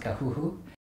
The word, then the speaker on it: KAXYXY: Hi, I'm KAXYXY, pronounced Kahuhu.